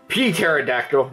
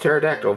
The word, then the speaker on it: pterodactyl: Anyways, that aside, this is his pterodactyl mode, or P-pterodactyl. No. It's actually pronounced pterodactyl, but I like saying P-pterodactyl.